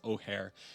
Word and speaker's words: Ojer: It is Ojer.